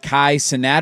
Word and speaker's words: Kai Cenat: Is it Kai Cenat?